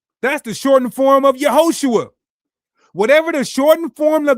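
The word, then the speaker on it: יהושע: Yehoshua is the long form of the name of the Messiah. That's how you say it in Hebrew.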